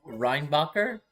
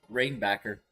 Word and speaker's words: Reinbacher: he said David and his name is Ryan reinbacher he said rain backer again you can't go